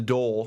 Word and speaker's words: dhole: mean the the deal the do which is spelled d h o e and I just call the dhole um is uh is